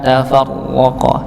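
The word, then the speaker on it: تفرق: W tafarqo tafarqo ya Jadi jangan terlalu banyak ke getaran atau tidak sama sekali tidak ada getaran ini juga tidak diperkenankan maka tengah-tengah Nggih ada getaran tapi tidak terlalu banyak ataupun menghilangkan getarannya ya W tafarqalladzina qalladzina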